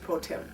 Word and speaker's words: pro tem: a judge pro tem.